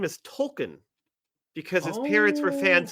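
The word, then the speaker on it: Tolkien: His name is Tolken because his parents were fans of JR Tolken. Okay. But everybody pronounced it as token for years and years.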